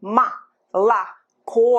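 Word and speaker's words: молоко: mala ko i say ma la co and only the last o is actually pronounced as or when it's not stressed it's pronounced as a after letter u after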